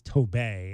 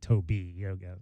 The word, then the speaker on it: Tobey: me last night because I'm saying Mr. Owaka's name wrong. It's Tobey, and I keep saying Toby.